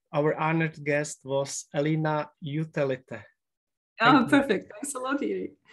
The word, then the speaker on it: Jutelyte: recording uh what is how do you pronounce your surname please because for me very hard to pronounce it uh it's utelite thank you very much